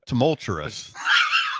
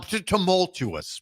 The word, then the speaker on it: tumultuous: it's gonna Rous Tous you put an r in there didn't there's no r tumultous that's how they say it in Pender um tumultuous would be that's fine there's still an r in it Ben is here the